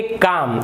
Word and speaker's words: calm: एक और देख लेते हैं L साइलेंट का, ये लिखा हुआ है CALM, तो इसे आप काल्म नहीं पढ़ेंगे, आप इसे पढ़ेंगे काम, आप इसे पढ़ेंगे काम।